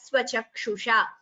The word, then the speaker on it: स्वचक्षुषा: Here anenaiva swachakshusha, there is a dvitvam, a double pronunciation of sa. So anenaiva swachakshusha.